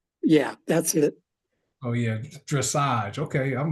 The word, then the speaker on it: dressage: Marcus, it's pronounced dressage.